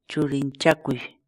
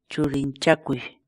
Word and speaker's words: churinchakuy: série de vídeos onde nós ensinamos você a pronunciar determinadas palavras em Quechua. Portanto, a nossa palavra do dia para hoje é Churinchakui. Churinchakui.